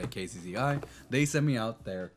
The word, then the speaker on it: Kzzi: Uh, I don't really know how to pronounce it except say KZI.